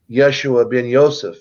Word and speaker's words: Yeshua ben Yosef: came in as Jesus, which is actually Yeshua ben Yosef, is really how you pronounce his name, and he left a